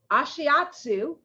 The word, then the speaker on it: ashiatsu: ambassador a licensed massage therapist okay i'm gonna ashiatsu barefoot hey i said it right yeah barefoot